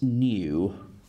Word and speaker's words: nu: And it's not a V, it's nu. So nu is how it's spelt, that Greek letter is spelt. So nu, nu.